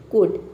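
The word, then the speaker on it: could: अब यहां पे देखिए एल के बाद क्या है डी है तो यहां पे एल लेटर जो है वह साइलेंट है एल को हम प्रोनाउंस नहीं कर यहां पे केवल हम बोले सी ओ यू डी कुड ठीक है ए लेटर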